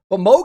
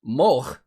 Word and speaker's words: Moog: about it and said it has dutch origins where it was originally pronounced mulch and then the germanic way of saying it is moog and then a lot of english people say moog he actually did say